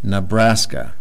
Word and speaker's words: Nebraska: the word and say that this E has a sound. So that's kind of odd. That's going to throw a lot of students off. You can say this is na, and they try and pronounce the whole word. Na, braska, Nebraska.